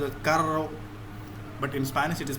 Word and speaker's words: carro: This double R is pronounced as, for example, this word carro. Okay, double R is pronounced as, this is rolling R.